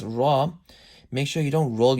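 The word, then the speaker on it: رَ: When a ra has a zabar or pesh, it'll be pronounced with the full mouth.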